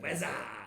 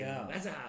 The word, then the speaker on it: weather: Weather. They could say weather. I'm like, no, weather. Weather. It makes me feel like a foreigner the moment I see them trying to pronounce the TH sound.